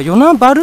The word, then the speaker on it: 与那原: 町てかさー与那原って言いますけど花岡ルって読むのは九州とランチですよね大きなもの九州の一つなんですけどねぇ昨日県の地名の読み方って独特ですよね原は春ってよ無視しろは部